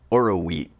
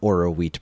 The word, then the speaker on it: Oroweat: Spelled like it sounds, Kris. Phonetically.